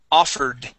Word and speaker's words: offered: Okay, this is a D sound at the end, offered.